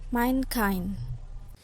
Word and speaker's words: mankind: Compound that receive primary stress on the second part, not the first. Jadi tapi ada beberapa kata yang penekanannya itu ada di kata kedua. Contohnya headmaster, weekend, mankind.